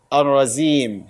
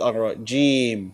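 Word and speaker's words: الرجيم: So Rasulullah sallallahu alaihi wasallam did not say Ar-Razim. He said Ar-Rajim. So we should try our best to correct our pronunciation and recite like the Prophet sallallahu alaihi wasallam. So Zim is wrong. Jim is correct.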